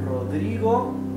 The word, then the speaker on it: Rodrigo: See how the first R is pronounced R, hard R. This R in the middle is not doubled, it is R, dri. It's not dri, it's dri.